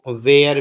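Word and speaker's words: were: डब्लू ई आर इसको वर पढ़ते हैं वर या देखिए कई टीचर इसको वेयर भी बोलते हैं ठीक है वर भी पढ़ा जाता है वेर भी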